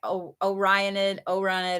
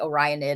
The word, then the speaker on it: Orionid: I needed it's like the Orionid, I think is OR. It's like Orion and then ID, Orionid, I think is how you say it.